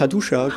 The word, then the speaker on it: Hattusa: Et dans des archives en terre cuite à Hattusa, Hattusha. Donc là. À tes souhaits ? Non, on prononce Hattusha.